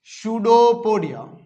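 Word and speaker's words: pseudopodia: आउट by putting out सुडो पडिया सूडो पडिया यहां पे सबसे पहले वाला पी साइलेंट है ध्यान रखना सूडो पोडिया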